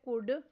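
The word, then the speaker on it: could: Next word है weather. इसमें silent letter H पर सर्कल करना है। नेक्स्ट वर्ड है कुड।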